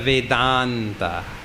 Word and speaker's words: Vedanta: And in Sanskrit, when you put the words together, they join. Veda Anta, Veda Anta, Veda Anta, Vedanta. The 2 A's join up and make a long A and becomes Vedanta.